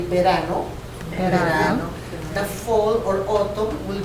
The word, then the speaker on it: verano: a small V but we pronounce the large V and the small V the same so we will say Verano the fall or Autumn